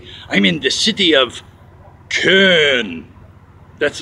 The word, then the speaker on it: Köln: in the city of Köln. That's right. I'll say it again. Köln. They say Köln here. When they say it in German, it's Köln. The other parts of Europe, they say it's Cologne.